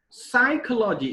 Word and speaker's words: psychology: Psychology is the next word. Again, per is silent there.